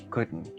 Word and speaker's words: could: Recuerda que la letra L en esta palabra no se pronuncia, así que si dices could, eso es incorrecto. Simplemente pronuncia could.